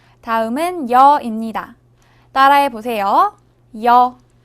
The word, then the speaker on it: 여: 여. 여는 먼저 이를 소리 내다가 바로 이어서 어를 소리 내며 발음합니다. 이와 어를 순서대로 빠르게 말해요.